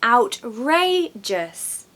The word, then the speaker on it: outrageous: how to pronounce a horrible word number four outrageous outrageous when you say that something is outrageous you really think it's just ridiculous crazy so the word is outrageous three syllables Reay is very much pronounced louder so